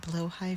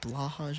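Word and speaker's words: Blåhaj: I am going to pronounce it Blowhigh for this video because I've been told that that's the correct pronunciation. However, I am not Swedish and cannot verify.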